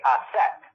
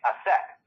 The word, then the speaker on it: Aset: Isis is the Greek pronunciation. So Isis is actually take off the S at the end. So you have Isa. And then you look at the Egyptologists. They say Aset.